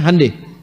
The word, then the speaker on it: Hyundai: Jepang Jepang bikin Honda mereka bikin hande Hyundai itu dibacanya hande ya jadi Selalu Begitu